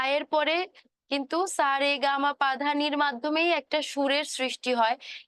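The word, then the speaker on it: সা রে গা মা পা ধা নি: রে গামা পা ধানি কিন্তু এখানে কিন্তু লেখা আছে দন্ত স র গ ম প ধ ধ ন তাই না কিন্তু আমি এটাকে কিভাবে উচ্চারণ করছি সারে গামা পা ধানি আমরা কিন্তু এটা মোটামুটি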